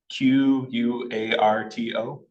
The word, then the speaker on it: Quarto: So how do you spell it? Someone was asking about chat. Quarto. Quarto. Q. Can you say that again? Quarto.